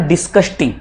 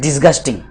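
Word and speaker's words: disgusting: डिस्कस्टिंग Maurya, it इज नॉट डिस्कस्टिंग, इट इज डिस्गस्टिंग, इसमें सी नहीं आते, जी आता है उस स्पेलिंग में, डिस्कस्टिंग।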